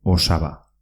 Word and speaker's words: osaba: Se dice osaba, con una S. Osaba.